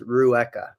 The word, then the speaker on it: Rueca: say your last name yes so it is Rua okay Rua I would have messed that up so I'm glad I didn't try it h Rua um so te tell me a little